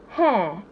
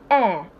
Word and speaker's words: heir: its ass enough hair if you say hair you're totally not correct it's pronounced air same pronunciation air and